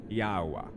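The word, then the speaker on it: Yahweh: what they're talking about so the yach is pronounced as double e the he is pronounced as ah the VAV is pronounced as double O and the he is pronounced as ah therefore the pronunciation is ywa yawa there we go could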